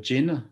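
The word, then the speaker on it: GIIN: Ceux qui aiment bien le sujet, je recommande d'aller sur le GIN, c'est Global Impact Investing Network, donc ça s'écrit G-I-I-N.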